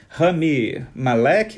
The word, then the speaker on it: Rami Malek: Mas, enfim, ele deu uma entrevista ao Press Associated, e ele falou que elogiou muito a atuação do Rami Malek. É assim que se pronuncia, diretor?